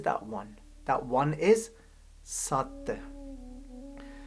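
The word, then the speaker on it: ਸਤਿ: Sassa, Tatta, Tatte nu Sihaari The 'sihaari' is silent when we pronounce it but it tells us about the origin of the word.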